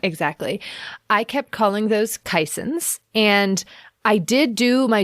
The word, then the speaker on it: caisson: Turns out that Google voice had led me astray. And the real pronunciation, as several listeners pointed out, thank you, is caisson.